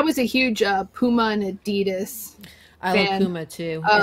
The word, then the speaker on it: Adidas: It is not pronounced Adidas. What is it pronounced? The family name, that is the family name. It's Adidas. Okay, nobody's saying that. No one says it. Not in the U.S. anyway. The correct name is Adidas.